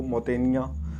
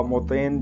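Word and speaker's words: Montaigne: तो Michel dough मोंटेनिया, तो इसकी सही प्रोनाउंसिएशन है मिशेल डो मोंटेनिया या मोतेन, जो इसमें लिखा गया, जो एग्ज़ाम में आया हुआ है तो ये वहाँ से कॉपी किया गया है।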